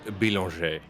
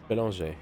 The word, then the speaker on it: Bélanger: Just before the broadcast went live, you guys were talking about name pronunciation, and I've been informed that car 84, it's pronounced Bélanger. Bélanger, yeah.